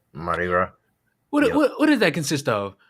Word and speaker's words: Mardi Gras: Rhymes with Party Gras. Oh, yeah. Mardi Gras.